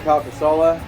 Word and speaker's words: Calcasola: I'm with one of the owners, Craig Calcasola.